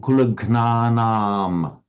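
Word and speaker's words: कुलघ्नानाम्: I noticed a slight reluctance there to make this a long arm, kulagnanam, kulagnanam. Kulagnanam. Yes. Yeah. Now, in Pali, that would be impossible because they have to say gnanam. A Pali word cannot end in a long arm. It's always shortened to an. So in Pali, that word kulagnanam, you would say. But in Sanskrit, if it wants to be long, it's long, kulagnanam.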